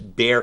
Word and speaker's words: Bexar: So when you have an elected judge of the county, it's Bexar, it's Bear County, but it's spelled Bexar, getting behind it.